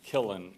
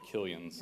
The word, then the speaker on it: Killen: Killen is how you say it instead of Killians.